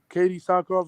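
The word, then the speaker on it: Katee Sackhoff: I love Katie Sackhoff. That's how you pronounce her name.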